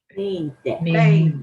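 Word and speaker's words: veinte: When I go above 20, and 20, think of a vein in your arm. It should be pronounced vein. 20.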